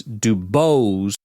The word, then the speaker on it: Dubose: it's two syllables but you've got the emphasis on the wrong cabable you know what I mean emphasis it's Dubose it's kind of like the